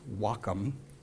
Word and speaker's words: Wacom: like work and life and that balance it's pronounced wacom the is the kanji word for harmony harmony